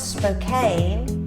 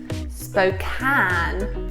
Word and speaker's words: Spokane: us on that one it's not Spokane it is Spokane you can see why we got it wrong I know because it looks like Kane as in Harry Kane